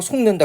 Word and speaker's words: 속는다: 때문에 연상하기 되게 편해 보세요 속는다 어떻게 발음합니다 속는다 그러면 아 니은이 비음의 영향을 받아서 비음 아니었 던 기억이 뭡니까 이응이라고 바뀌고 있죠 개별 현상으로는 자음 동화고